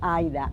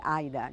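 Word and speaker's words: Aida: My name is Ida, A-I-D-A. Okay. Your name is Ida. But you pronounce it Ida, just like the storm.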